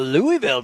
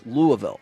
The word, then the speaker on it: Louisville: and they were like well Louisville takes the lead and I was like that's how you say it that's all you how you say it and then you'll talk to people and they're like no it's louville pean a lot of